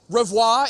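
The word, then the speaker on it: Rivoire: No one could seem to pronounce Revoir in New England. He had that nasally accent and, the drop in the I's, and, it just becomes Revere.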